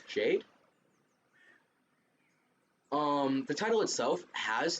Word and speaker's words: JPDE: is JP de um which actually spells out which actually is pronounced Jade um the title itself